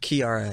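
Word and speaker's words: Kiiara: Her name, is it pronounced Kiara? Kiara.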